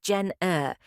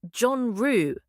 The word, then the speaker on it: genre: It's not "jen-er". It's "zhon-roo" with a soft zh sound like the S in measure.